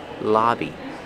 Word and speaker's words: lobby: Pronunciation, use the short ah sound like hot and stop. La, lobby.